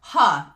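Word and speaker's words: 贺: their name is pronounced ha instead of HE it's it's red it's spelled like h-e in English which in English would be he but in Chinese would be ha and I was like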